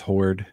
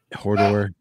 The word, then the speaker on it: Horde: That's how I pronounce it. It's just Horde. And it was teased. Yeah. Hodor.